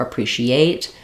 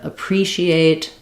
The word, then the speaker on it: appreciate: that clear a that we do keep the a sound there and they'll stress on it like demonstrate or appreciate instead of appreciate demonstrate that's a common um error pattern that I hear in syllable stress I think it happens